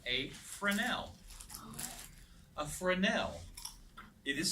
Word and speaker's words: Fresnel: On some other instruments like this Ullman and Fresnels and things like that, if you hang them upside down, the color frame just falls out.